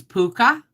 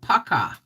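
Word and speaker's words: Pukka: doing welcome to now apparently i have been pronouncing these puka but apparently it's picca or pakka okay but i just like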